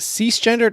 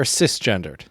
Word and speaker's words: cisgender: to say this right is it cease-gendered or cisgendered i believe it's cisgender okay and what is